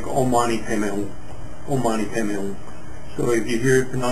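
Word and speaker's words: Om Mani Padme Hum: of chenzi which is very popular is the ommani pon now notice um it's often mispronounced because it's in the Sanskrit as P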